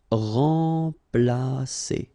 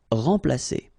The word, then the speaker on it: remplacer: So M together, and after that you've got a consonant, so it will be like a nasal, so like en. Remplacer. Remplacer.